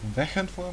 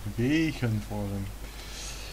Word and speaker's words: Wegenforum: the short E pronunciation. It's not Wegenforum, maar Wegenforum.